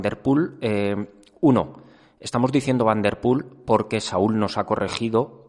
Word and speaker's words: Van der Poel: Uno, estamos diciendo Van der Poel porque Saúl nos ha corregido, se dice Van der Poel, nosotros decíamos Van der Poel. Saúl nos va a corregir todas las pronunciaciones que digamos correcto, después cuando hablemos por